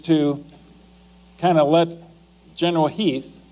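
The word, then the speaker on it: Heth: Lee's intent actually is to kind of let General Heath, it's spelled H E8, but it's pronounced Heath, to do a little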